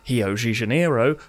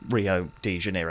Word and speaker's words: Rio de Janeiro: Just before we properly begin, I will be pronouncing Rio de Janeiro in a multitude of different ways, depending on how pretentious I'm feeling. From Hio de Janeiro to Hio de Janeiro to Rio de Janeiro.